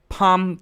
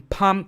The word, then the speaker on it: palm: have 12 boat 13 palm tree in palm tree the l is not pronounced so we skip it all right 14 is